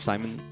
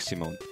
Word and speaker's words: Simon: shouldn't have pronounced it, they should not have pronounced it like Simone. That was probably meant to be Simon.